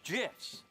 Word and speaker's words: GIF: the graphics interchange format Steve wilheit says it's jits choosy developers choose GIFs ah Dan dark